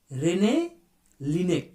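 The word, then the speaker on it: René Laennec: হচ্ছে বিজ্ঞানী রেনে লিনেক উচ্চারণটা হচ্ছে রেনে লিনেক পরের প্রশ্ন হচ্ছে মানবদেহে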